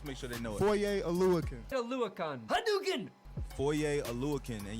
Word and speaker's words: Foye Oluokun: Foye Oluokun. Aluakun. Hadouken! Foye Oluokun, and y'all better make sure y'all pronounce it right.